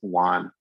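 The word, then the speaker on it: WON: call walled off necrosis or w n which we just pronounce it Wan and walled off necrosis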